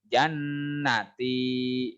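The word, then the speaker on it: جَنَّتِي: di dan tahan dindingnya jannaty Nyonya ditahan tapi pendek sakral kebanyakan ya karena keenakan mungkin cara bacanya jadi bacanya itu waduh oli jannaty kayak bener tapi salah yang ditahan itu dipanjangkan ditahan dindingnya What the holy Jan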